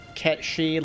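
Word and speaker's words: Cait Sith: I don't speak Gaelic, but I was like, there's no way in hell they intended the proper pronunciation. So I was like, you know, they pronounced it like they spelt it.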